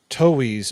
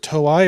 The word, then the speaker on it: Toei: And then Toei's, or is it Toei or Toei? I've always pronounced Toei. I always say Oh, Toei. it's Toei. It's Toei.